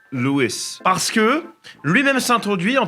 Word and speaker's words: Lewis: française effectivement mais majorité du temps je le prononce Louis parce que lui-même s'introduit en tant que étant